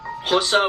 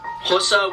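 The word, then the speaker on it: Xhosa: independent petty sotho venda hossa and that is jose with a click that's how you pronounce an x swazi that's tough that's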